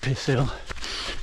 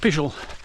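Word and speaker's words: Pishill: childish school boy humor things but it's not pronounced pisil it's pronounced pel and it comes from the old Anglo-Saxon words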